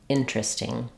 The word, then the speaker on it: interesting: interview interview internet internet some people will do that in interesting it sounds like interesting interesting by far the most common pronunciation is interesting this is the one